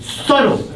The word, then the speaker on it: subtle: pronounce it in English you don't pronounce it because the B is being subtle that's amazing whenever I